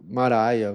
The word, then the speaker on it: Mara: a fama dela de Maraia, Maria, alguma coisa assim. Se eu não me engano, é a mesma pronúncia da palavra Maria, tá? Mara. É Mara.